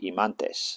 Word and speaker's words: himantes: called in English pronunciation, but it's called an Imanes, and the pair are called Himantes, soft Himantes.